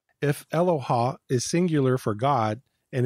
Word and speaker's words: Eloah: to the the Hebrew word Aloha it's not pronounced Aloha its Aloha that is used for God at times in